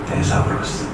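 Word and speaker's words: θησαυρός: 이 본문에 사용되는 원어는 데사우로스입니다. 데사우로스. 테사라고 읽기도 하고 데사라고 읽기도 하고 이렇게.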